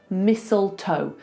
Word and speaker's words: mistletoe: Mistletoe. It's the same with this. Thistle, not thistle. So we've got mistletoe. Forget the T.